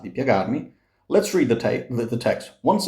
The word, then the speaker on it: piagarmi: Piagarmi. Piagarmi. We've seen this before. This here is a glide. So do not sing piagarmi.